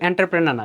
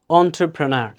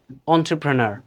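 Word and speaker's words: entrepreneur: দাঁড়াইতে হবে আমি এখন এন্টারপ্রেনার হব এটা কিন্তু এন্টারপ্রেনার না যেটাকে আমরা বলি হচ্ছে উদ্যোক্তা এন্টারপ্রেনার না এটার কারেক্ট উচ্চারণ কি হবে একটু দেখে নেন সি ডিফারেন্স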